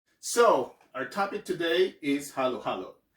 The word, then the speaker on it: halo-halo: you see a letter if you see letter a in a word you would sound a if you see o then you would sound o so this word is not pronounced halo halo but it's halo halo